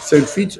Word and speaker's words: Saintfiet: Oui, on a dit Saint-Fit. C'est Saintfiet. Saint-Fit.